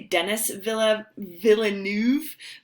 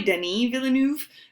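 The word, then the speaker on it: Denis Villeneuve: named I always say Denis Villa Villeneuve but he's French and so it's probably Denny Villeneuve but yeah if I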